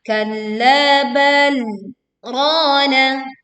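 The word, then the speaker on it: كَلَّا بَلْ رَانَ: Kemudian perhatikan di kalimat kalla bal rana. Di sini ada tanda saktah yang menunjukkan kita harus membacanya dengan berhenti sejenak tanpa bernafas sebanyak 1 alif atau 2 harokat.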